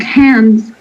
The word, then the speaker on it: hands: Like sometimes here in hand, here we pronounce the S as Z, like hands, walls, dogs.